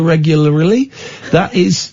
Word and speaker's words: regularly: That's why we brush our teeth so regularly.